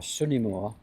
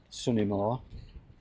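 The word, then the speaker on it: Swn y Môr: We call it blue cafe, but it's called Swtan y Môr or Sun y Môr which is the Welsh pronunciation. Sun y Môr.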